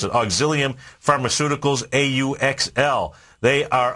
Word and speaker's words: Auxilium: this auxilium there you go that's how you pronounce it auxilium Pharmaceuticals Au uxl they are up 7% so